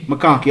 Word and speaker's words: McConkey: Yeah, McConkey.